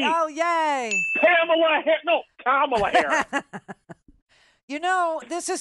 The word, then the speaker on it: Kamala: I think it rhymes with Pamela. Something like that. Oh, that's right. Oh, yay. Kamala Harris.